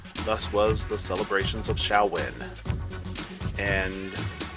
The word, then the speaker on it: Samhain: with that time thus was the celebrations of shall win and how do you spell shall win well